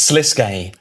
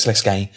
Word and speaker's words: Sliske: we're gonna go full panto now because it's sliske um we've got mod Raven Stu and mod Roy hello hello you ready for a bit of sese I'd like to start with pronunciation which sese